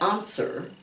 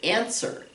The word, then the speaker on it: answer: one right here answer we don't say answer okay that would be more like british english but in american english we say answer and i said it's